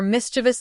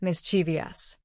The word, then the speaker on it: mischievous: So many people add a phantom I in the middle and a phantom syllable at the end, making it mischievous. There is no I after the V. The word has 3 syllables, not 4, and the stress is on the first one.